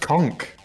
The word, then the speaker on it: conch: a what a conch it's pronounced conk con those funny words where CH is just like Cavern Cav what uh T